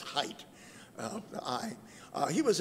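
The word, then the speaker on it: Haidt: started off his name is h-a-i-g-h-t but it's pronounced height of the eye he was at university of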